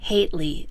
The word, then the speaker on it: Hately: I think I've been mispronouncing his name all this time. It seems to be pronounced Hately. At least that's what Candace used.